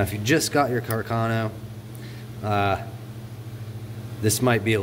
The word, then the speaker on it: Carcano: is a arcano bolt or a Carcano I believe is how it's properly pronounced but anyway we're gonna